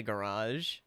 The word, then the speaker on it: garage: I say garage. It rhymes with corsage.